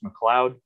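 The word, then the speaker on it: McLeod: cut up roots so i have it on fairly good authority this is pronounced mccloud and it's basically just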